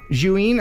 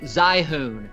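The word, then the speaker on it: Zhiyun: wanted third place because this is the Juin, I think that's how you say it, Juin. And this is the Smooth 4 gimbal for your smartphone. Or as we say in Tennessee, Zyhoon. That's how you say it. It's Zyhoon, y'all. And by the way, I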